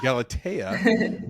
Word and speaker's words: Galatea: it pronounced um uh Galatia or is it pronounced Galata? Yeah, Gala. See, come on, man. You got to throw that the accent on on there, you know. Galatea, which is I believe